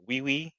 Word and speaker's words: Wi-Fi: That's how they pronounce Wi-Fi over there. Weii, that's that's Parisian. That's French. That's how they they have other words for internet just like we do.